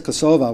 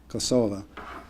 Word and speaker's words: Kosova: the other way is kosova which is the armenian pronunciation it ends with an a kosova what's very interesting to